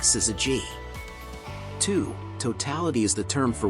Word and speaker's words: syzygy: means yolk together and it's pronounced like sizzy G totality is the term